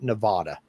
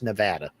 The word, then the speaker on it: Nevada: tended to call it Nevada it's not no it's Nevada rhymes with Savannah do you ever think